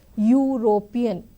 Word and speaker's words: European: European, it is a consonant sound.